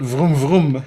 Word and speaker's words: vroom: thought I better put vroom vroom. Vroom vroom. It sounds like the English broom.